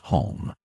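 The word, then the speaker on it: homme: he learned from Dano, that it was pronounced hong, and in the same way he was taught to pronounce ape, singe, and tree, arbor.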